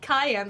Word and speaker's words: Kiane: like Kiane, but it's actually pronounced like Cayenne, the pepper, or like Cheyenne, Wyoming, without the H or the Wyoming.